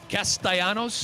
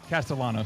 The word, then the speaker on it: Castellanos: It's Castellanos. I can't do a full season with it. Castanos. No. Castellanos.